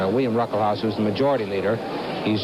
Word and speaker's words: Ruckelshaus: The first S in his name is pronounced, it's silent. William Ruckelshaus, who's the majority leader, he's just 35 years old.